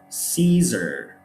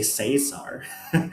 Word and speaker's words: Caesar: iaes from the land words like caesar caesar right we don't say cesar it's not um yeah the a is is completely silent caesar are keology it's